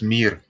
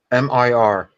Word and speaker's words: mir: It's mir. How do you spell that, Dalibor? M-I-R.